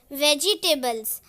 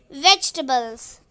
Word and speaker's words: vegetables: Some people pronounce this word as vegetables but this is wrong. The correct pronunciation of this word is vegetables. E is silent.